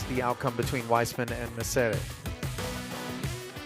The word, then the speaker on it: Messere: outcome between Weissman and Messere. I keep pronouncing Owen's last name as though he's Italian, but the the Union Jack. Maybe it's just Messere.